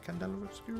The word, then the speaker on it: Candela Obscura: they had Candela obscura Candela obscura is how you pronounced it yeah um but yeah